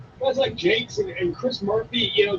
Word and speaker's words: Jakes: Joe Jakes, yes. Gotta say Jakes. You gotta give the French pronunciation.